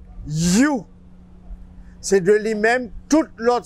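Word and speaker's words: HU: H, U, et lui prononcer You.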